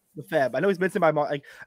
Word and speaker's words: Lefebvre: Lefebvre.